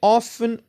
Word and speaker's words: often: I often or often النطق بجوج بهم صحاح.